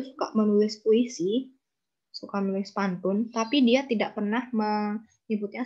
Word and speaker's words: pantun: dalam bahasa Indonesianya kalau Seharusnya kan poim itu kan pantun tapi di buku tersebut menggunakan istilah bantun jadi untuk menunjukkan bahwa si Ernest itu suka eh apa ya pelafalannya itu beda enggak sesuai gitu harusnya pantun tapi dia jadi pantun ya ya mungkin bisa